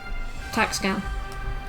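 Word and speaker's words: Tac/Scan: The slash is silent. Okay, so it's TAC-SCAN.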